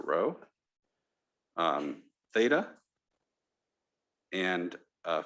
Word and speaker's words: rho: i want to give row that's pronounced i mean this is uh row greek letter rho um theta and a